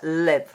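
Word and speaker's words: לב: La palabra corazón en hebreo se escribe así, lev. Se pronuncia lev.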